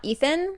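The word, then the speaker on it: Ithan: lot of people who criticize me calling him Ean and not Ethan if it was meant to be Ethan she'd spell it with an e but she spells it with an i I know that's not as pretty sounding as Ethan but to to me Ean makes sense I apologize and then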